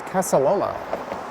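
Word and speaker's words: Casa Loma: There you can see the sign for the Spadina Museum and Casaloma. And yes, I pronounced that correctly.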